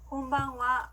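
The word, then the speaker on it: こんばんは: 저녁에 만났을 때는 곤방와 라고 합니다. 따라해 볼게요. 곤방와, 곤방와. 네, 좋습니다. 이것도 역시 인사말로 할 때는 하 발음이 아니라 와 발음으로 한다는 거 기억해 주시고요.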